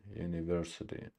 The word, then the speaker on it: university: intermission and but we the secondary stress on the first syllable and primary stress on the third syllable University and we